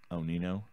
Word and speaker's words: Onino: We have decided that name is pronounced Onino.